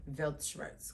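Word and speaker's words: Weltschmerz: s c h m e r z yeah velt shs cuz V's are W's and W's are V's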